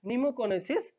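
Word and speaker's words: pneumoconiosis: तो इसको बोलते हैं नीमोकोनिसिस, पी यहाँ पे साइलेंट है।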